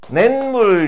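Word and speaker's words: 냇물: 발음할 때 그렇죠. 낸물 이렇게 되면서 시옷에 해당되는 애가 니은 소리로 덧나는 거예요.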